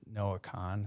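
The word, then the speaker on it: Noah Kahan: I mean, there's some newer artists like, is it Noah Khan?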